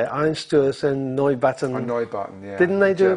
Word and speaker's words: Neubauten: Neubauten, yeah.